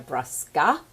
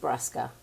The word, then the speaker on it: Brusca: I'm Paulina Brusca, and that's not really how you say my name. It's just Brusca.